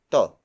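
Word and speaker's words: 'to: then it is followed by the word toe toe toe toe is spelled us apostrophe T oh it means this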